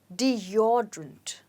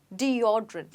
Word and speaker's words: deodorant: say this deodorant no you say it as deodorant let's say it again deodrant so the stress is on o deodrant okay now let's